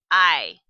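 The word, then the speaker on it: hay: So, caseron i. Ioco. I caseron. This word here, H A Y, uh that's pronounced I and it just means there are.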